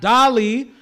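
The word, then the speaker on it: DALL-E: the other one doly Dolly uh that's spelled like Wall-E but with a d by the way guys so d a l l e if I remember correctly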